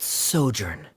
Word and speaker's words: sojourn: everything clear uh director's osimos how do you pronounce this word let me see ah that sojourn it means to stay for a while this